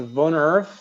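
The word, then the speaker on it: Woonerf: So it is actually pronounced Wonurf. That's the Dutch term.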